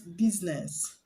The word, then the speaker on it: business: ways now the words business business the i after s is silence business is not business but business so the i is silence